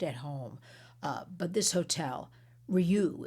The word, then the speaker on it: RIU: But this hotel, Ryu is the way it's pronounced, RIU, is fully committed